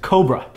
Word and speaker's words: Kobre: Professor C's light scoop I think that's how to pronounce his name k o b r e and Cobra Coby yeah Cobra okay it's Cobra's light scoop